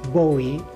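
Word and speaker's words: Gbowee: Lima is it's Lima Bo is as a gbo WWE e but I think the G is not being pronounced uh is she's executive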